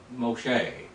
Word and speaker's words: Moshe: or to draw out Moshe is how you say it in the Hebrew Moshe the rescue or